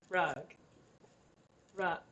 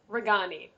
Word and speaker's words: Ragani: and her name is rug rock why did i say it like that rug raw like rag it's uh it's ragani oh that's a pretty